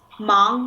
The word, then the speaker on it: 忙: 忙 means busy. So here is another final ang when we put it together. Yeah, you can feel the vibrate of the whole cavity.